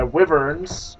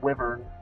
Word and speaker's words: wyvern: My wyverns, according to somebody... Somebody told me the other day it's pronounced wyvern, not wyvern.